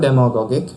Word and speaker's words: demagogic: Adjective demagogic. In its pronunciation there is stress on dem syllable in hearsay usage.